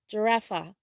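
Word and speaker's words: ג'ירפה: In Hebrew, giraffe is pronounced giraffa, giraffa.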